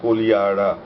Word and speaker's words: Kodihara: Kiu-lo-pi-na-kia is Kolihara. It is written Kodihara but pronounced Kolihara.